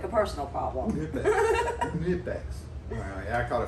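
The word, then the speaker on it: Knipex: Nipex. Well, yeah, I caught a few comments on that. The K in Nipex is silent.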